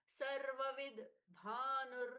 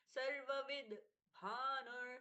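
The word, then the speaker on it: सर्वविद्भानुः: पूर्ण उच्चारण विसर्ग स सर्वविद भानुर साथ में जुड़ गया। सर्व विद व विद दोनों अलग-अलग से दोनों ही वकार अलग-अलग से उच्चारित होंगे। सर्वविद भानुर सर्वविद भानुर त का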